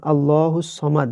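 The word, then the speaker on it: اللَّهُ الصَّمَدُ: যেমন আল্লাহুস সমাদ, এখানে ভুলেও সামাদ বলা যাবে না।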